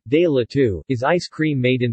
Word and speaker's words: gelato: gelato Italian pronunciation Dayla to his ice cream made